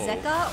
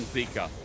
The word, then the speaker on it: Zeka: Zeka was in the LPL, and I remember actually calling him Zika. I didn't realize that his name was actually pronounced Zeka, so I feel like now I have the